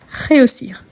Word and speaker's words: réussir: réussir le verbe réussir ici on prononce bien le et car il est un accent aigu réussir donc c'est un verbe